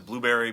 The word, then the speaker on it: Blubrry: The plugin PowerPress, Blueberry is spelled weird. It's BLUBRRY. There's no E in it.